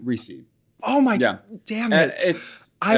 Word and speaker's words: Recce: It's just Recce here.